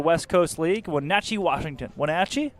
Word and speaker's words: Wenatchee: Wenatchee? That's how you say it.